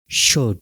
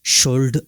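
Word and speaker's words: should: एल किस तरीके से वर्ड में साइलेंट रहता है, जैसे काम, काल्म नहीं आएगा, काम। शुड, शुल्ड नहीं होगा, शुड होगा।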